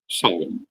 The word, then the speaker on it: Samhain: to comment upon is the pronunciation of the word solom and this is of course a um a a g pronunciation A G word um you find it